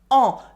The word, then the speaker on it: en: On the other hand, en is another pronoun. It is pronounced en, the French nasal vowel.